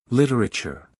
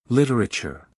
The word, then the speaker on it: literature: the second syllable uh remember to pronounce the T as a soft T sound literature literature literature goodbye for now